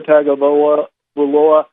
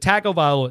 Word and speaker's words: Tagovailoa: Tagovailoa. No, it's that the Polynesian culture doesn't pronounce the G the way that we do.